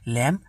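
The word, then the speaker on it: lamb: এরপরে দেখুন ল্যাম কম। এখানে এম আর বি এই দুইটা একসাথে থাকার জন্য এখানে কিন্তু বিটা উচ্চারণ হয় নাই।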